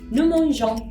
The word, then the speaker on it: nous mangeons: Nous mangeons. Pas de liaison, bien sûr.